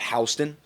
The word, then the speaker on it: Houston: If you're in areas like for example um I think of Hston pronounced Houston I understand but we say Hston because we're not allowed to say Houston uh is in between Milford and Harrington.